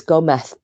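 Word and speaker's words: Gómez: who told me that the zed is pronounced like th because she was saying no it's go meth and i was like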